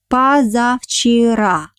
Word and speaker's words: позавчера: Next word, позавчера. Позавчера. The day before yesterday. Позавчера. Pay attention that the first vowel O I pronounce like A because it doesn't have an accent.